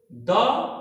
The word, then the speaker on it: the: THE, dear ones, my dear students, THE is pronounced the when it comes before such a word which begins with a consonant sound।